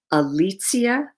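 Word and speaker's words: Alicja: delineated on my website alicia a l i c j a alexia dot com that's the polish pronunciation and polish spelling of my name so i really love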